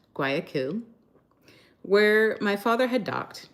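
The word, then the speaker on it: Guayaquil: Anyway, this was the same Ecuadorian port city, pronounced Guayaku, where my father had docked not quite two months earlier.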